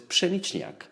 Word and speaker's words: pszeniczniak: my favorite beer, which is not a very easy word to pronounce for people, which is pszeniczniak.